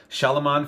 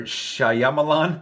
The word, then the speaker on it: Shyamalan: check out since I do like M. Night Shyamalan for the most part, or Shyamalan. I always pronounce that name incorrect. I think we all do. M. Night Shyamalan. M. Night Shyamalan. Pretty straightforward, once you know.